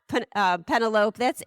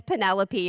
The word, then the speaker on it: Penelope: time, and she read the person's name as Penelope because it was spelled like antelope. And I wish that I had nurtured her into, that was so sweet, but this is actually how we pronounce that word. I laughed. And then said, no, that's not Penelope. That's Penelope, and this is why.